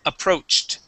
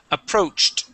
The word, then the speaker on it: approached: When it ends with a CH, we pronounce the ED like a T. The word is approached. Approached. Okay, almost. Approached.